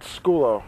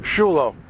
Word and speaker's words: Sciullo: I have here the man Brad Skulo. Shulo. Shulo. I'm always pronouncing that wrong.